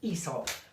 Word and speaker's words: Aesop: Aesop. Like Aesop's Fables, Aesop's Fables.